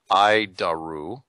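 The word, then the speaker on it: ADIRU: data initial reference unit we pronounce it ID aru hide our roof it's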